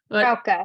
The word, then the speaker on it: Frauke: Excuse me, is your name pronounced Frauke? Frauke. It's Frauke. Frauke.